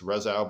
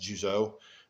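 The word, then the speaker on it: Rzeszów: res they it's pronounced resa it's if you read it and you're not from Poland you'll think it's reso but it's actually pronounced Juo it's about an hour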